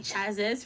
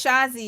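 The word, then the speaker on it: Chasez: Podwell's actual client list includes JC Chazes from InSync or Chase, I don't know. It's Shazi. Shazi, y'all. Shazi.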